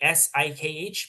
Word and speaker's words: Sikh: So, like the people that wear turbans, they're called It's like S I K H, but it's pronounced the Sikh. Yeah, that's what their religion is called. They're called Sikhs.